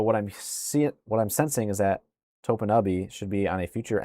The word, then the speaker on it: Topinabee: It says say it fast, and it's pronounced Topinabee or Topinabee. E-N-U-H. Topanubby. Say it fast.